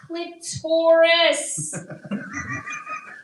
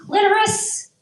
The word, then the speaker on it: clitoris: Clitorus, but they have sassy teenagers. They're like, "Mom, it's pronounced clitoris."